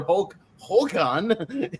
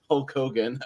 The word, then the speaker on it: Hulk Hogan: ] this is but her Hulk Hulan is the strangest way to pronounce Hulk Hogan I've ever heard uh but yeah this